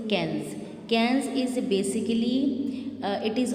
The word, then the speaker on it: Cannes: So it is basically international award, and बच्चे try to learn its correct pronunciation. It is Palm d'Or and it is Cannes. Palm d'Or, Cannes. So try to keep this in your mind.